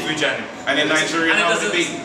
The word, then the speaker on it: Vujanic: and for living so it's vujanic so just say vujanic and in Nigerian how would it be how